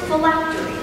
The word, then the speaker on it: phylactery: Miss Park, the word is phylactery. Phylactery. Am I pronouncing that correctly?